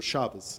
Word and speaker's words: Shabbos: the Sabbath, or Shabbat, or Shabbos, as it's pronounced in Yiddish.